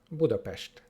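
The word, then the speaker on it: Budapest: अक्षर पर ध्यान दें अंत में एस का उच्चारण "श" बुडापेस्ट के रूप में किया जाता है।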